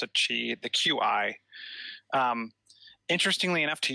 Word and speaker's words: Qi: Yeah, I pronounce it Qi, the QI.